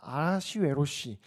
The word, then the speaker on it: 아하시웨로시: 이 이름이 히브리어로 뭐라고 읽냐면요. 아하시웨로시입니다. 아하시웨로시. 그래서 아하수에로라고 성경에는 적혀 있는 거죠.